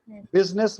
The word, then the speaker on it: business: बिजनेस मतलब Business. आपको देखो कि इसका स्पेलिंग कुछ अलग है, बट बोलते हैं इसको बिजनेस.